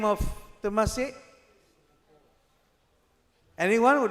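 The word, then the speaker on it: Temasek: ran away to firstly to a place called Tamas. T E M A S I K. Tamas rings the bell. It is now no more known as Tamas. Anyone knows what is the current name of Tamasi?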